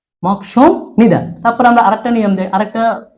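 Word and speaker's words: 먹습니다: বিউপের পরে নিউন আসলে বিউপটা মিউমের মতো উচ্চারিত হবে, তাহলে mock sum Nida, mock sum Nida.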